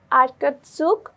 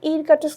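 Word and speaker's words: Irkutsk: Republic and রিয়ন অফ আরকাটসুক Russia ঠিক আছে রাশিয়ার রাশিয়ার কোন জায়গায় বলতো আরকট আরকাটস এইযে উচ্চারণ কি হবে ইর কাটস বলবো না আমরা এটাকে কি বলব আর কাটস রাশিয়ার এই অঞ্চলটাতে আমাদের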